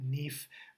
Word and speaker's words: NIF: be using this NIF, or in Portuguese, they'll call it NIF. The I's are pronounced similar to E's here in many cases. So if someone asks you for a NIF, they're actually talking about a NIF.